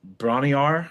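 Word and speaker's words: Bron-Y-Aur: And also um Jimmy Paige and um uh Bronny Rar I think I'm saying it right. Not Bronny R stomp, but just the B R O N hyphen Y hyphen Aur.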